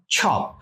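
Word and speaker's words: chop: সব না, উচ্চারণটা হবে ছপ।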